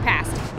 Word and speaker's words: pasty: It's pronounced pasty.